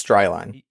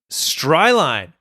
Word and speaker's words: Stryine: I was going to say we should probably tell you how to say my last name because no one says it right. It's Stryine. Stryline. Oh my gosh, I completely butchered it.